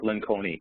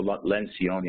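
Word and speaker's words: Lencioni: the way by Patrick Len con or lenion I believe it's pronounced and it's in essence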